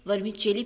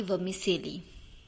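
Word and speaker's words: vermicelli: वर्मिचेली इसके प्रोनाउंसिएशन को लेकर काफ़ी कंफ्यूजन रहता है, पर नेटिव इसे वर्मिचेली प्रोनाउंस करते हैं, ना कि वर्मिसेली।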